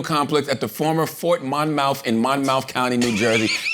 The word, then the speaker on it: Monmouth: It's Monmouth. It is. Yeah. Hold on. But it's spelled in my mouth.